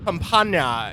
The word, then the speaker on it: campana: Because campana is the Spanish word for bell. I'm sure I could get a more authentic pronunciation.